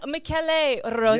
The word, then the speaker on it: Michele Rossi: We practiced the name beforehand, so I'm going to get the pronunciation down to a T. Michele Rossi. Almost there. No, Michele Rossi.